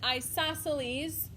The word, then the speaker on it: isosceles: equilateral isosceles i know number two is an interesting word to say you pronounce it isosceles and number three scalene